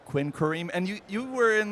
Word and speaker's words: Quinquereme: Will you pronounce it one more time? I'll I'll do it a little slow. Quinquereme. All right, Quinquereme.